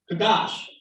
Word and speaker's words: Kadash: Y'all source for y'all lexicons are Israelites who knew the original language, because the original root of Kadash is telling you pronunciation as short A sound. Kadash.